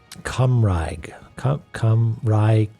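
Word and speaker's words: Cymraeg: Okay, it's pronounced Cumraig.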